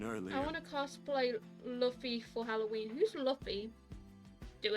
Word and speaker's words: Luffy: actually started watching it it's pronounced Luffy ah okay oh sure